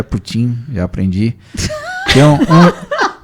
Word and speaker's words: Putin: pronúncia mas você não você fala tem como putt-putt mas é Putin eu aprendi então é